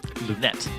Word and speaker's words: Lunette: I've actually asked him even though you would think with a French player that'd be Lune it's not you pronounce the T anyway Lunette Lunette screwed me up